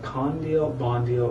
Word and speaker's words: Kandil Bandil: It's broken down into, there's 4 syllables here. So Khan is 1, Deal is 1, then Bon is 1, then Deal is 1, and then there's the letter R.